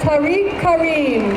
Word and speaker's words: Tariq Karim: The Consul General of Pakistan, Tariq Karim, please, we pronounced, had the wrong name there. So please give a hand for the Consul General of Pakistan, Tariq Karim.